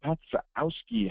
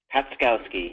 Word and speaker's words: Patkowski: welcome is uh patski how do you say your last name patkowski yeah the Z throws people off but yeah I love